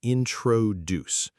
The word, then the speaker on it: introduce: Introduce, not introduce. The stress is at the end.